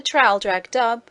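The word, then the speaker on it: Traldragdubb: It contained a warrant for conducting me and my retinue to Traldrag Dub, or Trildrog Drib, for it is pronounced both ways as near as I can remember, by a party of 10 horse.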